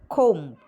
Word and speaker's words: comb: And for MB at the final stage sometimes, and for example, climb, plumber, comb, tomb.